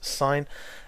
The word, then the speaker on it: sin: n abbreviated to s s i n and pronounce sign and it's the sign of this angle here